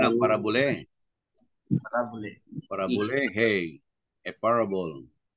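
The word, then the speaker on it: παραβολή: Pronunciation ng parabole.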